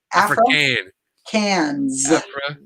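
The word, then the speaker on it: Afrikaans: have to put it it's my philly accent african cans am i saying it wrong africans no that's right africa africans all right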